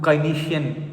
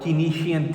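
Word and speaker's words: Keynesian: You know according to Kynesian or Kenian theory both you know pronunciations are used.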